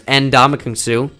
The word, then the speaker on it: Ndamukong Suh: Like there's Ndamukong Suh, not Ndamukong Suh.